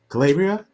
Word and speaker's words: Calabria: Nico, Calabria, did I say it right?